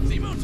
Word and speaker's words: Simon: Labyrinth required Simone to leapfrog several orders of infinity. Here's my thing about it, though. Like, Simone made him. Like, Simon, chat, that's how you pronounce it correctly, Simon.